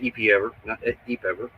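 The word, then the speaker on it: EPEver: 100 amp EP ever they told me how to say it it's EP ever um two more 250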